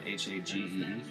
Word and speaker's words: Hagee: Hagee, I don't know how to pronounce his name. It's Hagee.